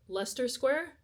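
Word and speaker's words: Leicester Square: We got on the train, went to like Lester Square. I think that's how the man pronounced it. It's not spelled like that though.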